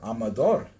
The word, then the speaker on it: Amador: Spanish okay so then I will look up the Spanish pronunciation here oh it's I have it on mute I can't hear anything aha it's just like I thought it Amador so I gotta say